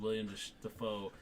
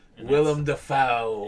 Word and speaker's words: Willem Dafoe: seems creepy as fuck because it's him and William Dafoe. Oh my god! Wigging out in a goddamn fucking lighthouse. Willem Dafoe.